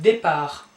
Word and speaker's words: départ: Then we have départ, don't pronounce the last letter, départ.